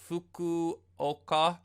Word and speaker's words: Fukuoka: That's why it's so bad that I've been pronouncing the name wrong. So Fukuoka Yes.